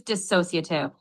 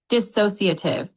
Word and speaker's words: dissociative: The word dissociative has four syllables. Dissociative. The emphasis is on the second syllable.